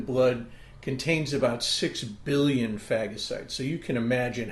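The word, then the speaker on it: phagocytes: And it's called fagasite and it's spelled ph h a g o c y tes. Fagasites.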